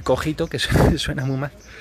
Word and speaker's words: cogito: cogito y ahí sí lo vamos a pronunciar así vamos a decir cogito que es suceso en